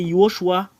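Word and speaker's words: יהושע: En fait, ça n'existe pas le nom Yehoshua. Ce qui est vrai, avec le nom que Moshe a envoyé, c'est Yehoshua.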